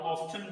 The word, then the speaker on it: often: अब एक American English का वर्ड है, एक मतलब प्रोनाउंसिएशन है, और एक जो है वो ब्रिटिश इंग्लिश की प्रोनाउंसिएशन है। सो हाउ ऑफन भी पढ़ सकते हैं और हाउ ऑफ्टन भी पढ़ सकते हैं।